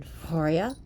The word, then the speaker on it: Freya: shape-shifted none other than forya actually pronounce Freya here but that was it's